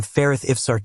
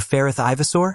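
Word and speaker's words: Feyrith Ivsaar: And Arthur tells him mockingly, "Wait, you're Ferith Ivasor?" Which annoys Ferith because he pronounced his name wrong.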